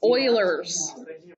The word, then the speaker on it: Euler: used to think it was pronounced U. This. No. Oilers. Oilers. Oilers. Let's Google it. Oilers.